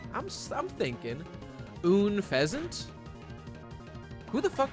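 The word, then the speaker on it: Unfezant: and un feasant okay I know un feasant that's definitely un feasant it's like unpleasant that's the joke that's the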